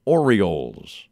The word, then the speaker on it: Orioles: I always liked the way he made a point to pronounce the second O in the word Orioles.